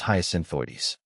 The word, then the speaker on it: Hyacinthoides: How to pronounce hyasinthoides? The name Hyasinthoides might seem like a tongue twister at first. Here's how to break it down. Hyasin, like the flower hyin. Oi, pronounced oi as in boy.